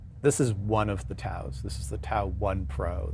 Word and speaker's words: TAO: Well, I call it a TAO. It actually TAO. is an acronym. It's an acronym, Talent Anchor Online.